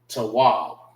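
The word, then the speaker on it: tawab: This is t and this is w. This is pronounced together and this is pronounced by itself. TW.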